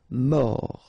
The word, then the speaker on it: mort: Final T not pronounced. O-R, or. Mort.